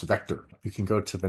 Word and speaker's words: VKTR: media sponsors cmswire and Vector vktr ve pronounced Vector you can go to